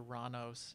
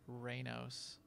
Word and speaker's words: Ranos: So the chat room is telling me that it's Master Ranos, not Reynos. Yeah, it's even spelled Right.